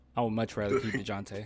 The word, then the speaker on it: Dejounte: I would much rather keep DeJounte. You gotta say it like that.